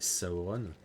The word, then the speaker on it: Sauron: par les forces de Sauron ou Saon, peu importe, ça a pas trop d'importance. La la prononciation officielle c'est Saon. C'est comme ça que on est on prononce en est en danger.